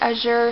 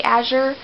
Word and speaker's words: Azure: It's I pronounce it Azure. Some people say Azure.